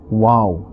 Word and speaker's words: و: Alright, and only 4 letters from these 29 letters are pronounced from the lips, and those letters are ba, fa, mim and waw. Besides these 4 letters, no other letter must be pronounced by moving the lips.